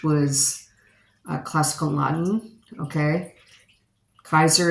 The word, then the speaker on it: Caesar: a classical Laden okay Kaiser is how you pronounce it correctly but it's Caesar someone's going to betray